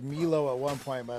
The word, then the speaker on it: Milo: It's Milo. Got it. Okay. I think I said Milo at one point, but I was like, I don't think that sounds quite right looking at it.